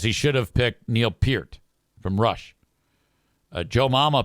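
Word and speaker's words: Peart: should have picked Neil Pier from Rush. Joe Mama picked Neil Pier, but she said his name wrong. She said Neil Per.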